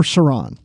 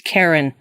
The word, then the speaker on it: Charon: episode for sure absolutely an Obol for Sarang it's Karen we don't we just